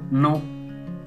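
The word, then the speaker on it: non: Next word is no, N-O-N, no, this means no, pronunciation is same as in English, no.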